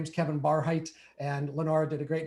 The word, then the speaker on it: Barhydt: my name is kevin barheit and lenora did a great job of pronouncing my last name because it's spelled with the dutch german spelling uh it's bar height b-a-r-h-y-d-t uh my friends in